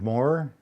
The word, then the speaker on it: More: Maybe just say your name and spell it for Dave sense when he needs to put in footnotes. Sure. I'm Moore.